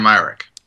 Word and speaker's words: Myrick: Yeah, Dan Mrick.